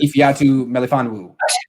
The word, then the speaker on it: Ifeatu Melifonwu: Ifeatu Menifone yes, Ifeatu Melifonwu.